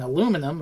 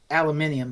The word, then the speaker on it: aluminium: the neutron star in aluminum, or aluminium as you would call it, Rainiac. I think that's what they say in the story. Because that's the British pronunciation.